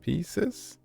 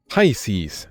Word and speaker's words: Pisces: Pieces? I don't know how to pronounce that. Pieces. Said to Aquarius, Virgo made her choice. Go see him and he'll tell you the rest. Rasmus, I never imagined. Wait. Pisces. There we go.